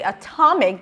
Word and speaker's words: atomic: If we say atomic, the stress shifts, and then the T is the beginning of a stressed syllable, and then it's no longer a flap T. It's an aspirated T.